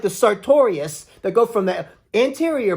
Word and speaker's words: sartorius: We used to say it like that with the sartorius muscle and grab the muscle and go, sartorius. Crazy things like that as